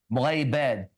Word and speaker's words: مغيبات: Mughayibad. Yes, that's actually good pronunciation.